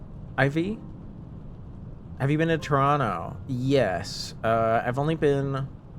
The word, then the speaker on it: Toronto: So, here's Toronto, right? Don't pronounce the last T.